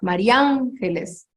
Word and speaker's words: María Ángeles: Y María Ángeles lleva tilde en la segunda, María Ángeles. Y es una palabra que, si ustedes se fijan, es esdrújula, ¿no?